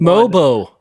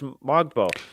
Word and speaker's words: Mogbo: Mobo. No, I was told it's Mogbo. The pronunciation guide. Yeah, the pronunciation guide was Mogbo.